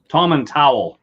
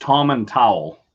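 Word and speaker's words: Tomintoul: and uh tom atul tom and towel is how you pronounce it there's a lot of indie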